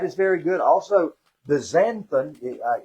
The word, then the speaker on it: xanthan: Also, the xanthan, it's pronounced with like a Z, xanthan gum, very, very good too.